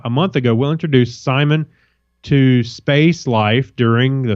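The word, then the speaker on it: CIMON: As intriguing as identical space siblings and turbocharged space coffee may be, it's the German robot named Simon, with a C, pronounced Simon.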